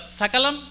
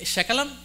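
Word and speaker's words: सकलम्: Instead of sakalam, if you say shakalam, many, many regions they speak like that, even in India. They cannot pronounce dental sa, they just replace it palatal sha. Or shakalam they say, but that is the but if you say shakalam, yeah, just negative meaning it gives.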